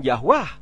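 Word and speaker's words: Yahweh: bukan nama Arab jadi nama yahwe diucapkan yahwah karena huruf Arab tidak mengenal vokal e di depan tadi teman saya yang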